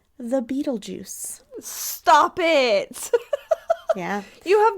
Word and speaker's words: Betelgeuse: So, Beetlejuice, it's spelled Betelgeuse. So not it like has nothing to do with the movie.